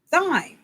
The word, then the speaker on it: thyme: And I thought, some pronounce it thyme, some pronounce it thyme. It's Thyme.